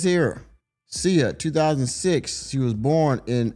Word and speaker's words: Sia: Her name is pronounced CIA and she is an Australian pop singer.